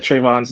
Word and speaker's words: Trayvon: How do you say it? What is his name? It's Trayvon. Oh, Trayvon. Well, I I didn't know.